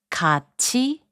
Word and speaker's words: 같이: 같이, which means together, is pronounced as 같이.